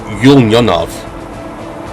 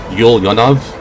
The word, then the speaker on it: Ulyanovsk: Ulyanovsk. So, U L Y A N O V. Ulyanovsk. That's how I pronounce it.